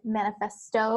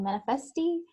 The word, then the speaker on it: manifesto: I think it was, for whatever reason, a little challenging to say it like manifesto. I think you're saying manifesti.